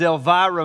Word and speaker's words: Elvira: my daughter's name is elvira maeve elvira you gotta say it with a southern drawler you're not pronouncing it right el vira everybody say elvira there we go all right